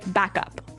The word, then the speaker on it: backup: to point out that here the pronunciation and stress of this phrase is really important, hey? Yes, yes. You have to say backup. Backup. Backup. Yeah. So both words are stressed at about the same level, hey?